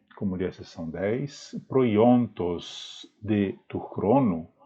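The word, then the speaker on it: προϊόντος: Significa que o oi do proiontos não deve ser pronunciado como um ditongo, mas como um hiato, né? Então até pronunciei errado, não é proiontos, mas é proiontos.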